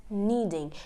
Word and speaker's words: kneading: knowledge knocking and kneading in all of these examples only an N is used there's no K so they can a has become silence and we are only using the n as in the pronunciation so that is rule number one silence K whenever a k is accompanied by an N the K becomes silent okay so rule number